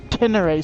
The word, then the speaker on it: Ténéré: we call it T7 the correct name is Tenner 700 but we call it a T7 because quite frankly it's four syllables less and think how much time you